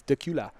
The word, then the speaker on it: Dacula: do you say Dacula duck you like Dracula no are but how it's spelled but yeah it's Dacula that cute I did